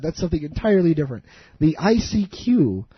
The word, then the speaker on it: ICQ: The ICQ. Or as I believe that they would like you to pronounce it, I seek you.